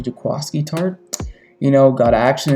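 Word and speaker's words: Jaquiski: his name is pronounced i always said jaquisky it was actually jaquasky tart you know got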